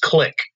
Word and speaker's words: Qlik: o'clock right that's how you pronounce it it's pronounced click quick by the cute that's like you there